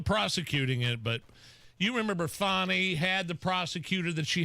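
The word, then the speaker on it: Fani: I mean, for what it's worth, it's Fannie. So it's spelled F-A-W-N-Y then? Maybe an H in there. No, it's spelled F-A-N-I. But so that's Fannie. But you're supposed to pronounce it Fannie.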